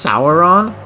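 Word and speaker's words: Soren: missing a you I know and it's properly pronounced saon yes saon but I just you're going to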